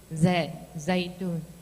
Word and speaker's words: Jaitun: I am Jaitun. Just now, the director said that it's supposed to pronounce Zaitun.